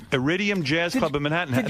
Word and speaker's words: Iridium: Idium. Iridium Jazz Club of Manhattan.